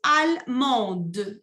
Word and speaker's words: allemande: Almond, Et au féminin, vous dites allemande. Y ahí pronuncian la D.